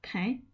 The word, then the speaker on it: pain: Um because if you don't know um bread in French is p which is spelled p a i n which in English is pain.